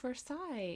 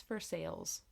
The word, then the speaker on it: Versailles: and I said something I was like oh Versa and my mom I think was like no that's for sale I was like not for sale no it's